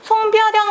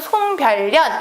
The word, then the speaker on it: 송별연: 송별연 같은 경우는 송별연 이렇게 발음나지 않고요. 송별연 이렇게 발음이 나요.